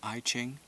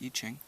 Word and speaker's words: I Ching: It looks like I Ching, but it's pronounced I Ching, and it's an ancient form of divination that the Chinese developed thousands and thousands of years ago.